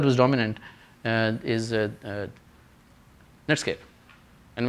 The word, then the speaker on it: Netscape: dominant and is a Netscape and when I say Netscape I mean sometimes I mispronounced it as netskope which is more dominant these days but Netscape essentially their